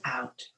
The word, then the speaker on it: Om: you is the chanting of all and we'll start by simply chanting um three times o which rhymes with home without the h let's take a deep